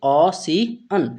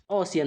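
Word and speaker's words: ocean: ठीक है, इस तरीके से क्या पढ़ेंगे, ऑसियन। ठीक है, इसका उच्चारण क्या होगा, ओशियन होगा।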